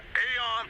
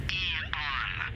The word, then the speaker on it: Aeon: With the state of the world today, the Aeon program is... Eon. I'm sorry? It's pronounced Eon.